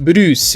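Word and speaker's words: ブルース: pronounce the name Bruce blues, which is also the exact same pronunciation in Japanese of the music genre blues.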